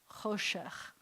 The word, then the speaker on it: choshech: And then we have that final chaf, choshech. And the accent is on the cho. It's over here.